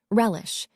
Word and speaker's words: relish: When it comes to pronouncing the verb, it has two syllables. The stress is on that first syllable, relish, and if you are someone who relishes learning new vocabulary, please subscribe, turn on notifications.